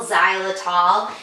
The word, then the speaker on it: xylitol: Some peanut butter have an ingredient called xylitol, and it's spelled Zylitol, xylitol, and that is toxic to dogs.